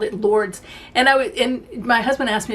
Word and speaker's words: Lourdes: tickets to go to, how do they say it? Lords or Louds? Lords, I think is how they say it. When I read it as an American, it looks like the name Lourdes to me, because when